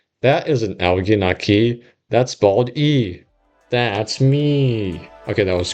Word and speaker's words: Bald E: Eventually, he settled on Bald E because it's pronounced almost exactly like Baldi and it has the letter E, which is his favorite letter.